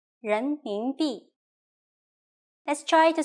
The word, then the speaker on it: 人民币: Please pay attention to this word's pronunciation, 人民币.